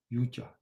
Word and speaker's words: yoga: That's what the word yoga or its original pronunciation in Sanskrit, yuja.